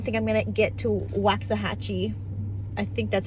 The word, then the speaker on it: Waxahachie: day I don't think I'm gonna get to Waxahachie I think that's how you pronounce it Waxahachie it's an hour and eight minutes south of